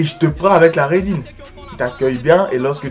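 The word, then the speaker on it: Ridin: En 12e position, le son Raidin. Ça s'écrit R-I-D-I-N, mais c'est pas d'une meuf.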